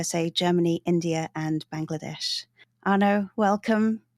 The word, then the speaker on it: Arno: I know it reads Arno like Arno, but in Bengali it's pronounced as Arno, which is very hard to pronounce, I know, even for Bengalis.